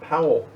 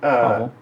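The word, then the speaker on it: Paweł: job, awesome job, Powell. Am I pronouncing that right? Is it Powell or Paul? That Pavel. Adamski. So is that Think- Polish? I think they pronounce it W's like a V, like Pavel.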